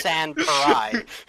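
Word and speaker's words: Sans Pareil: San Parai.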